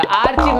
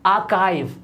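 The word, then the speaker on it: archive: Next है हमारा, ये तो आर्चीव हर कोई पढ़ता है, क्या होता है? ये आर्चीव हो गया, आर्चीव नहीं होता, ये होता है आर्काइव, आर्काइव।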